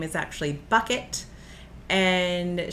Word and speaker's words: Bucket: last name is actually bucket and she refuses to be considered bucket it so she says it's pronounced bouquet so yeah I love